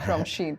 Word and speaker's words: Shein: How do we pronounce it? Shein, and a little fun fact that when I